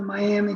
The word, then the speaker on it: Miami: That's how it's actually pronounced, Miami Confederacy.